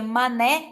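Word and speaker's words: Manet: porque nossa estrelinha porque o eduardo mané se pronuncia mané na frança que a gente costuma falar mané para não não fazer aquela brincadeirinha com a palavra mané né mas a gente pronuncia a forma correta eduardo mané por que que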